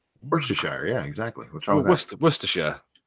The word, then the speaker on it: Worcestershire: says cho chester equals toaster the way you pronounce it yeah Worcestershire Worcestershire yeah exactly west of Worcestershire Oh Worcestershire Worcestershire